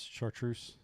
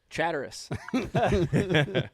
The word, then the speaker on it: chartreuse: anymore yeah mike do you remember how you used to pronounce chartreuse chatterus i said chatterus a long long time